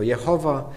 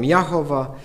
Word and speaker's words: Jahwe: propozycje wymówienia tego imienia Niektórzy mówią że to Jehowa inni mówią jachowa nie mówią Jahwe i tak Jak państwo widzicie tutaj tych propozycji w wymawiania tego imienia są dziesiątki ja Osobiście skłaniam się raczej do tej do tej wersji Jahwe nie znaleziono w pewnym